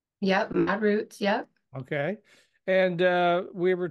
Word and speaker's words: Modrutz: And she has a company called ModRütz. Did I pronounce that correctly? Yep, ModRütz.